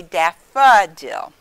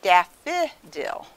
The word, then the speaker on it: daffodil: the uh sound so if you look at the word daffodil and then we over here it's daf we don't say that's an open syllable we don't say daffodil i love to pick daffodils we say daffa dill and some people say daffy dill they make the i sound there so this book only